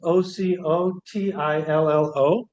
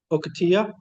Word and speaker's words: Ocotillo: Ocotillo is Ocotillo. Ocotillo. Ocotillo. No A's, all O's. I believe.